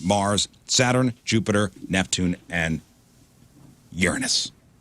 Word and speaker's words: Uranus: Saturn Jupiter Neptune and Uranus cuz I'm not going to stoop down to call Uranus cuz that's not how you say it mhm okay I'm going